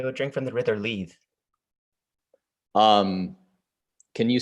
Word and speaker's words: Lethe: They would drink from the river Leith. Can you spell that for me? Yes. I'm not seeing it. There. I can pronounce it again. Yeah, why don't you pronounce it again? River Leith. Lethe.